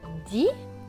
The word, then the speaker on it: dit: Di, le T ici ne se prononce pas puisqu'il est écrit en gris.